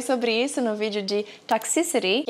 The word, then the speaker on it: Toxicity: do sistema FN e as pessoas pronunciam o nome dessa música errado e elas não sabem. Toxicity é toxicidade e a síba mais forte é o toxicity.